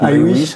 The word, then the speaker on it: iWish: Nous on dit iWish. iWish à l'anglaise.